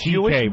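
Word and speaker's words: C.K.: CK is just the first two letters of your whole last name. It's pronounced CK, but it's spelled much longer.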